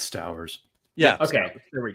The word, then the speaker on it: Stowers: It's Stowers.